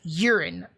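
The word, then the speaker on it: Yurin: but her name is urine that's y-u-r-i-n but it's pronounced urine like your pee i i i it's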